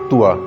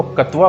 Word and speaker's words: क्त्वा: इसमें आधा कै का भी उच्चारण है त्वा। कई जने इसको कत्वा बोल देते हैं, जो बिल्कुल गलत होगा।